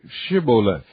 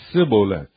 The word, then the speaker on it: Shibboleth: If he said, Nay, then said they unto him, Say Shibboleth. And he said, Sibboleth, for he could not frame to pronounce it right.